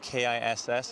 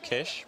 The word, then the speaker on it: Kiss: well it does spell K is s on the back just figure that would be that's a good one a bit of a trophy yeah though it's not pronounced kiss there's Kish but you want it